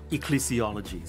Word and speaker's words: ecclesiologies: How do we pronounce this, Dr. Goh? Ecclesiologies.